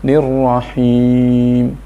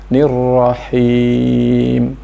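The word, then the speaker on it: الرحيم: menyertakan hidung atau haisung bukan Hei tapi hei yang sering kita dengar membacanya Halo Bismillahirohmanirohim Hai nirohim kurang tepat yang betul adalah nirohim Hai hey dan Hei beda-beda sekali nah bagaimana cara mengujinya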